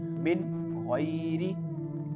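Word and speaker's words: مِنْ غَيْرِ: ghain this letter ghain is the part of throat letter so because of this we have to pronounce this word like min haoulihim clear voice of noon min ghairi okay now move to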